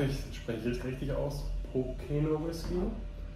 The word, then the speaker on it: Pokeno: bin ich, hoffe ich spreche ich richtig aus, Pocono Whisky? How do you say your whiskey? Pocono Whisky.